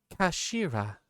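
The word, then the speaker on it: 頭: written in his head in Japanese but it's pronounced as Kashira I believe Ashira so Mr asagi's word actually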